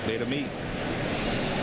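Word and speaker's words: Betemit: name and he said the syllables on the last or the accent is on the last syllable. Beta me. That's the way he said it to me very quickly.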